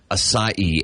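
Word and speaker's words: açaí: that one mhm aai one more time asai a c a i but I always thought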